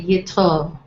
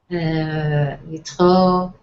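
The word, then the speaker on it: יתרו: I also note that in Hebrew, the stress is usually on the last syllable of the word. So you say Yitro, Moshe for Moses. You say Moshe, Moshe, Yitro, Melech.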